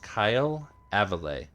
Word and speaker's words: Kail Avile: appreciate you okay it's pronounced kyle avalay think i know how his name is pronounced as the person who came up with it i'm well aware that there are people in the city who have come up with their own pronunciations for my name but they are wrong yeah i know there's